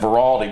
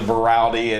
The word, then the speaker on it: Veraldi: Said his name wrong a couple times last year when I said Veraldi, but it's actually Veraldi, and just a terrific young man.